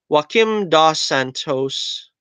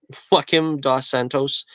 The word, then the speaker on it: Joaquim dos Santos: is moving forward with Joaquim dos Santos I guess I pronounce it him da Santos Avatar The Last Airbender